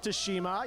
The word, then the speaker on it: Tsushima: as or I've been Tsushima? saying. A true cinematic look. Enjoy. How do you pronounce that? Ghost of Tsushima. Because everyone's pronounced it differently. Because TSU is Su. So is it Tsushima?